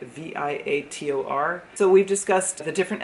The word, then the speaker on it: Viator: I think that's how you say it, Viator.